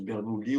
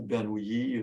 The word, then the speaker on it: Bernoulli: On prononce Bernoulli ou Bernoulli, c'est comme on veut.